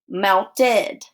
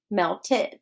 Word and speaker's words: melted: ends with a t so we when we add e d it's going to sound like this melted melted the ice cream melted away so it sounds like id but we spell it